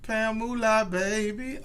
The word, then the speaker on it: Pamulahbaby: Okay, that's how you say it. Yeah, moolah, the money. Yeah, okay. Pamulahbaby.